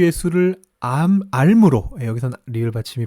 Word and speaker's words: 앎: 발음은 어떻게 되나요 예 표준어 대로 발음하면 한국 어문 규칙에 따라 발음하면 암입니다 l2 발음이 안 돼 조리를 미움에서 는 여기서 근데 왠지 그게 바로 하면 어색해서 자꾸만 이걸 암 이렇게 바람 하고 싶어지는데요 4 암입니다 아 하나님과 예수를 암